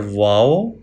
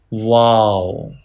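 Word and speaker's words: واو: Wow. Wow. Wow can be pronounced by rounding the lips.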